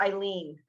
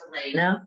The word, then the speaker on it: Elena: So, and is it Ellen or Eileen? Good morning. It's spelled funny. It's Elena, but I get it.